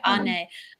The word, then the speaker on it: Ane: Ane. I was like, I know it ends in "nay."